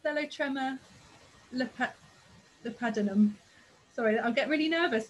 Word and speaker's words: Thelotrema lepidinum: I think this is pronounced Thelotrema lepidinum.